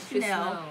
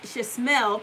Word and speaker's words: Chasmell: It's not Chanel. It's Chasmell palette or the cloud compartments on the outside of the bag.